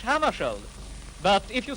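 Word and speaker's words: Hammarskjöld: Well, I pronounce it myself in Swedish Hammarskjold. But if you say Hammarskjold, that's all right with me.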